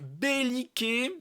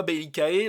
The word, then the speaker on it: Bellicae: Donc belliqué, alors moi pour moi le AE en latin ça c'est pas AE, pour moi c'est E.